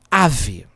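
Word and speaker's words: אב: Ave não tem ponto dentro, ó. Aqui, ó. Então seria V. Ave. Se fosse com pontinho, teria o som de B, tá?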